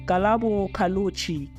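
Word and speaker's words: Ghaleb Cachalia: DA Shadow Prime, is it DA Shadow DA Public Enterprise Minister Galo Katalochi, is it it's Galabo Kalochi.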